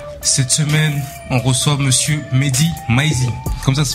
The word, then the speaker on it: Mehdi Maizi: Cette semaine, on reçoit monsieur Mehdi Maizi. Comme ça se prononce?